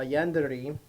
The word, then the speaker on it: yandere: A yandere, which is exactly how it's pronounced, is Japanese.